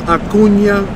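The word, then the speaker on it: Acuña: baseball but you know people call them Acuna jr. that's not the correct pronunciation people so let Uncle Jesse teach you guys a little song for a change the correct way to say the man's name is Ronald a Cunha jr.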